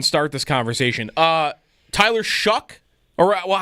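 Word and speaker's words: Shough: So, expectation by the way, actually, before we even start this conversation, uh, Tyler Shuck or Well, how are we pronouncing the last name now? Yep. Shuck.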